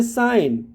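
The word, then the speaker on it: sign: का प्रोनंसिएशन करना है ज साइन तो साइन जब बोलते हैं तो जी होता है लेकिन उसका प्रयोग नहीं होता है वह साइलेंट लेटर है डिजाइन डिजाइन नेक्स्ट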